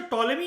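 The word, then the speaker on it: Ptolemy: ये जो टॉलेमी है ना, पीस में साइलेंट होता है, इसको हम 11वीं क्लास की जब ज्योग्राफी करेंगे तमिलनाडु की, तब हम देखेंगे।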